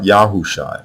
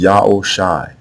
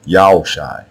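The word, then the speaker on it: Joshua: proper name so now the way you pronounce hoshai's name is not yahawasha not yahusha not yahushua etc it is yahoo shai yao shai this is another nominal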